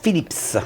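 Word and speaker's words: Philips: On prononce bien le S, Phillips.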